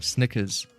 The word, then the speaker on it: Snickers: Oh yeah, I'm saying sneakers and not Snickers. Oh yeah, I'm pronouncing it wrong. Snickers. That's the right way.